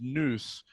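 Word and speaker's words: nous: they say that most people's noose and it's spelled n-o-u-s by the way that took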